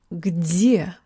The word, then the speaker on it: где: I messed up the last pronunciation a little bit. Где. I should have said the g.